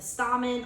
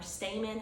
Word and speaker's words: stamen: Your male reproductive part is known as the stamen or stamen, however you prefer to pronounce it.